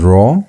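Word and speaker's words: rho: The other one is raw.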